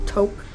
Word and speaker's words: taupe: this one is in taupe how do you pronounce taupe is that correct and then girl that's taupe let me Swatch it next to the Marat